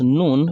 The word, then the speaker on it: ن: So, which means you cannot pronounce noon from the tongue alone without that additional feature, which is what we call ghunnah, a nasal sound from the nose.